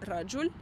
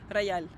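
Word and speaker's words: رجل: В арабском языке есть буква «жим», в Эмиратах ее произносят как «я». И, например, есть слово «раджуль», что означает «мужчина» в литературном арабском языке. В Эмиратах это будет звучать как «рояль».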